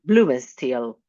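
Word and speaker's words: Blumenstiel: Uh I hope that the I pronounce in a correct way your surname Bloom and Steel. Correct.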